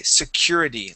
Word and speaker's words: security: the word security so instead of saying security we say security let me have you